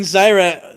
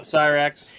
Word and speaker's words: Cyrax: Oh, when he's he was fighting Zyra, is that how you say it? a Cyrax.